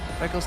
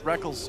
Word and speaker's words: Rekkles: Technically, it is written Rekkles. Yeah. It is. You spell it phonetically. All the way back in his first major tournament, IPL 5, the Rekkles and Reckless debate was in full swing. I still want to call him Rekkles, but I've just gotten so used to calling him Reckless because he says so.